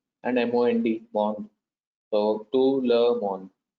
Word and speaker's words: monde: To le, you're not pronouncing li, it is le, and M-O-N-D, mond.